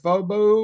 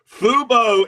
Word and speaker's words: Fubo: Did you call it Fobo, or what would you say? What was the pronunciation? Fubo is the TV thing. Fubu, I think, is a clothing line.